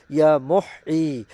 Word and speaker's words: ইয়া মুহয়ী: আর তা হচ্ছে আল্লাহ তাআলার পবিত্র গুণবাচক নাম ইয়া মহ ইয়া মহ। সঠিকভাবে উচ্চারণ করবেন ইয়া মহ।